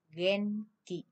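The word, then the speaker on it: 元気: Nguyên khí chúng ta đọc là gì mọi người? Genki. Genki. Genki vậy là đáp án số 2 nha.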